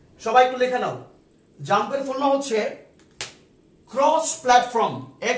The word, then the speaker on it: XAMPP: তাহলে এটা তোমাদের জাম্প নামে যে সফটওয়্যারটা জানতে হবে, এটা তুমি ক্যালকুলেট কাজ করো jump. Yes, thank you so much. এই জাম্পটা বানানটা হচ্ছে XAMP, XAMPP, জাম্প।